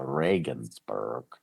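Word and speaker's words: Regensburg: Spelled like Regionsburg, but they pronounce it the Reagansburg.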